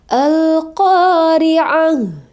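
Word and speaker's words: القارعة: ha Riah gitu ya jadi kita ulang lagi bacanya alqori'ah gitu ya malqori'ah Nah coba teman-teman lihat perhatikan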